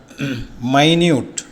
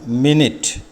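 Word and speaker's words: minute: മൈന്യൂട്ട്, അർത്ഥം ചെറുത്, അതേ സ്പെല്ലിംഗ്, ഉച്ചാരണം വ്യത്യാസം. മിനിറ്റ്.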